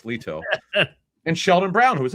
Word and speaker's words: Lito: I know Lito said to pronounce it Lito. I used to call him Lito, but it's Lito.